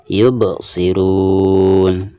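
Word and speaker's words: يُبْصِرُونَ: bobok yuk bobok siruna di sini ada rubah yang merupakan salah satu daripada huruf Qalqalah dan disini posisi huruf ba' tersebut ada di tengah-tengah bacaan sekaligus ketika suku ya maka dihukumi Qolqolah Sugro dan dibacanya itu harus ada pantulan ya yup yup seperti itu yubsirun dan ketika kita berhenti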